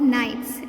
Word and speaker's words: knights: And for no, it is pronounced as night and not knight, because here K is a silent letter.